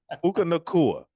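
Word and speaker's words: Puka Nacua: And your boy Puka Nakua, now that we know how to say his name, Puka Nuka. Nuka Nuka, Puka Nuka, Puka Nakua.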